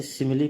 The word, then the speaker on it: simile: लेकिन कुछ वर्ड्स ऐसे हैं जिसमें ई का उच्चारण ई या ए होता है, जैसे SIMILE, इसे सिमिली पढ़ेंगे। यहाँ पे ई का उच्चारण ई हुआ है और सही हुआ है।